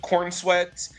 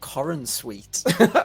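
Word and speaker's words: Corenswet: Uh, first and foremost, played by David Cornsweet.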